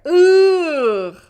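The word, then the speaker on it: ㅡ: Ooh. Ooh. So your teeth are closed, okay? And lips flat. Like how the vowel looks, your lips are flat too. Ooh. Ooh. That's the sound.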